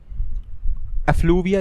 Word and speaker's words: effluvia: section 11 ऑफ द act provide that every factory shall be kept clean free from एक second एफ्लूविया, यही pronunciation होगी इसकी, EFFLUVIA, मतलब होता है इसका